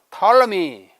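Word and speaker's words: Ptolemy: 이 프톨레마이오스 영어로 하면은 탈러미 P를 발음하지 않지만 원래 헬라어에는 P를 다 발음하죠. 프톨레마이오스 하는 것이 그의 본명의 발음입니다.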